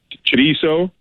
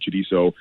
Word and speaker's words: chorizo: Chorizo, I call it chorizo. I had a buddy's dad who yelled at me and not let me eat if I didn't say it correctly. So now I say chorizo.